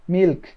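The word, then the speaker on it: milk: এরপর হচ্ছে মিল্ক, হ্যাঁ, যত ক আছে সব খ করে বলবেন।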